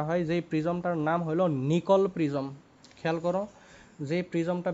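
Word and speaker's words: Nicol: ঠিক আছে তাহলে একটা নিকল প্রিজম আমরা ব্যবহার করবো নিকল কিন্তু সাইন্টিস্ট নেম নট নিকেল আমার বানানটা হয়তো ভুল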